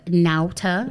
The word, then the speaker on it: Nauta: think the sit down how do you say your last name first of all naota okay but like not